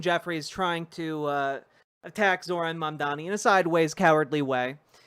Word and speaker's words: Mamdani: They can't fucking say his name. What's wrong with you? The Mamdani campaign. To address it. Andrew Cuomo. There's a goddamn N in his name, man.